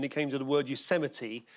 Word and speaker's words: Yosemite: Donald Trump, when he was reading the autocue and he came to the word Yosemite, said Yo Semites.